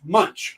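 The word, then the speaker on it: Moench: and it was quite really like oh m-o-e-n-c-h munch okay got that one okay that would be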